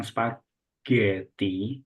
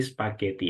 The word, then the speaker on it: spaghetti: using this word spagetti Jadi bukan spagti tapi spageetti ya oke sudahudah I like